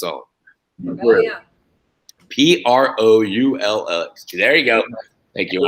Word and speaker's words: Proulx: P-R-O-U-L-X.